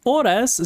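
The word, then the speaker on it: horas: So oras starts with H but it's followed by O. So that's that's the reason we have to change to U because the H is silent.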